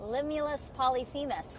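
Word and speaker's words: Limulus polyphemus: Limulus Polyphemis.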